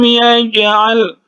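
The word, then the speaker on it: يَجْعَلْ: Jadi huruf jim ini huruf qalqalah, dipantulkan cara membacanya. Alam yaj'al, alam yaj'al, ya, dipantulkan sedikit saja karena huruf qalqalah ini berada di tengah kata.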